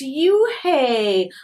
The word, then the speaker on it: Unhei: no on hey corrected it's spelled u-n-h-e-i it's pronounced oh it's you hey like you hey what about hey you just